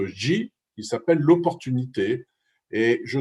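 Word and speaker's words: 机: Un qui se prononce Wei, qui veut dire le danger, un deuxième qui se prononce Ji, qui s'appelle l'opportunité.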